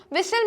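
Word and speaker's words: whistle: ठीक है स्टूडेंट्स, तो बैले में हमारा टी है, विसिल में हमारा टी है, अलार्म में हमारा आर है और साइकोलॉजिस्ट में हमारा पी है।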